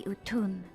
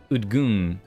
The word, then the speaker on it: Utun: We know them through the Utun, like my grandmother. So it's said like U-T-U-N, Utun, but it's like Udgun, Udgun, Utun.